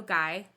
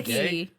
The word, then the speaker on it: Gey: I'm looking at Wikipedia, guys. Let me just click on it. Or it's not going to let me. Sometimes it gives you that little pronunciation. It's Guy. Yeah, Okay. it's Guy.